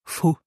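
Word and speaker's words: vun: And so here we add the preposition von, von, but with the N rule, we will pronounce it fu, fu.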